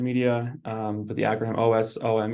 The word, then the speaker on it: OSoMe: um but the mcon OS which is pronounced awesome is a a joint